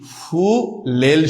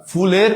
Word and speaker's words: ফুলেল: জানাব ফুলের হবে না হবে কি ফুলেল শুভেচ্ছা শুভেচ্ছা ফুলেল শুভেচ্ছা ফুলের ওটা ভুল ওটা সম্পূর্ণ কি ভুল তাহলে কি হবে ফুলেল